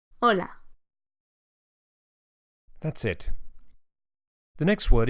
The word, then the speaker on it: hola: in Spanish is Allah hola you can hear that the initial H is silent Ola hola that's it the next